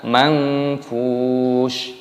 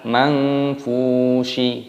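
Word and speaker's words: المنفوش: mad ta'alilis sukun dimatikan, dibaca mangfush, bukan mangfushi, bukan seperti itu.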